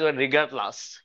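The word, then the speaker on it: regardless: যেমন রিগার্ডলেস রিগার এটাকে ইংলিশে লেস না বলে ছোটা উচ্চারণটা রিগারলাস।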